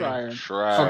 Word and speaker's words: Schreier: So the question I'm asking is, who's more at fault in this situation after Jason Schreier or Shire, however you say his name? Schreier.